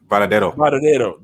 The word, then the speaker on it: Varadero: Is pronounced Bravado. Because in Spanish V make a B sound. That's yeah. Varadero.